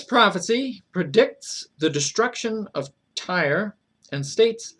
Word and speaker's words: Tyre: I keep wanting to say Tyre, I'm sorry. Tyre, I think is the correct pronunciation.